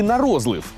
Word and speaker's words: на розлив: чи може на розлив це і буде наше перше слово для перевірки наголосів ви як думаєте на розлив чи нарозлив на розлив на розлив на розлив Ну звичайно на розлив на розлив і так і так якщо що налити хтось каже нарозлив хтось на розлив а праві абсолютно усі бо це слово має подвійний наголос Обирайте Як вам зручніше на розлив на розливу